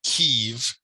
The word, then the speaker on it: Kyiv: Ukrainians call their own city Kyiv and spell it K-Y-I-V.